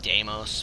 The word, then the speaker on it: Deimos: yeah whatever de deos the tyon actually it's pronounced damos but I pronounce it deos so you guys very famili with Dem to